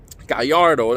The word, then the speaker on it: Gallardo: got the black Lamborghini Gallardo got yard oh that's how you would pronounce it but anyway turns